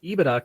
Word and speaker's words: EBITDA: And the answer is, I guess, technically yes, I am saying EBITDA correctly, but I don't trust that I'm saying it correctly because who knows?